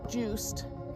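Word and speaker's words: Joost: The main character's name is Juiced. Juiced? Juiced. Juiced? Spelled Like, J-O-O-S-T.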